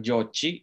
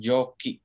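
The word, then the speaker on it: giochi: jadi joki Oke kemudian di sini ada cahaya Hai kode CH itu kita bacanya seperti kak ya Jadi bukan jochi tapi joki tuh ya sedikit tentang pelafalannya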